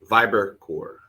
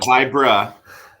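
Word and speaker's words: VIBRCOR: how to pronounce it viber core viber core okay not vibra see that's where i was wrong it's viber core fiber core well guys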